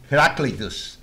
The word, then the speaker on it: Heraclitus: I know how to pronounce his name in Spanish because I speak perfect Spanish, no foreign accent. Heraclito, with an H. Heraclitus.